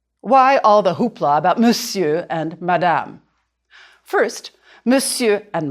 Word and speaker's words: monsieur: You can draw a line through the R, the R, to remind you not to say it.